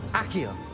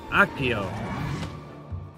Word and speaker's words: Accio: Accio. Accio.